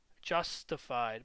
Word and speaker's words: JsTIfied: and we're going to type in justified but it's spelled this weird way javascript t i f i e d so it's a javascript